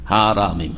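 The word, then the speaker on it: حرام: হারামিম, হারাম শুদ্ধ উচ্চারণ, হেরেম নয়, হেরেম শরীফ।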